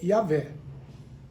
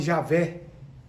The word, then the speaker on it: Yahvé: O nome mais provável é Yahvé. Mas há quem fale Javé.